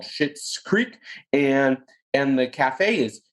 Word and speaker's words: Schitt's Creek: shit's creek go guys gals children aliens out there